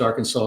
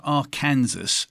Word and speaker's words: Arkansas: Well, it's actually an Indian name. It means downstream people, and the Indians say Arkansas. It's not spelled that way, but if you spell it phonetically the way they spoke it, it's Arkansas. Gee, thank you.